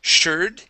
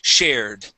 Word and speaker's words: shared: and our last word is shared here you had said shur okay an R sound this is an air air sound so shared try that shared good